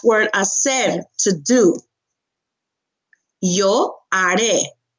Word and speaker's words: haré: Yo haré. Haré. Remember, H is silent. Okay, haré.